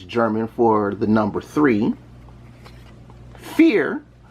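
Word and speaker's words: vier: for the number three fear yes i did pronounce that with an f because you're supposed to as my german family has told me fear is the german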